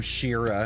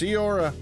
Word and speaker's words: Ciora: She's not happy because they pronounce her name Shira and it bugs the hell out of her. It's not Shira, damn it. It's Ciora.